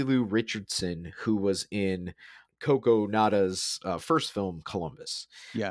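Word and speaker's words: Kogonada: by the director and i i had to phonetically uh write out how to say his his name but uh coco nada um so he uh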